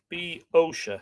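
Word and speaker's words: Boeotia: biosha that's definitely an english translation bioshock okay b osha so it's more like o-h-b-o-h i would say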